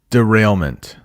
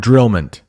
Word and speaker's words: derailment: in the world yeah derailment not not drillman it's a there's an extra syllable there derailment see do I